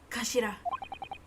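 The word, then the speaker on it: 頭: Written as head in Japanese, but it's pronounced Kashira.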